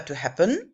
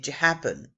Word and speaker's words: happen: On ne redouble pas la consonne parce que ici, c'est bien deux syllabes, mais on appuie sur la première, on ne dit pas to happen, mais to happen.